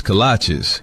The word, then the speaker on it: kolache: When you walk into Coach's Kolaches, you might be a little overwhelmed by all the great choices, but do not be overwhelmed by how to say it.